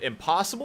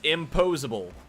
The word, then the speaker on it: Imposable: Is it Impossible or Pose? It's Imposable. So we've been saying his whole name wrong.